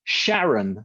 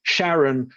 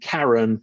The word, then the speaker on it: Charon: can't be called Charlie so he made it Sharon a mispronunciation of Charon the boat master of the underworld so that's why a lot of scientists will pronounce the moon Charon rather than Karen because it's named after